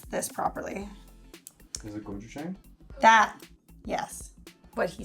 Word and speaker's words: gochujang: I'm not even going to attempt to pronounce this properly. Is it gochujang?